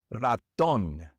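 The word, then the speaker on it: Ratón: Raton. Raton. This word ends with an N.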